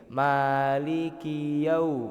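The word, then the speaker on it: مالك: Maliki nah itu seharusnya k-nya itu pendek, Pak.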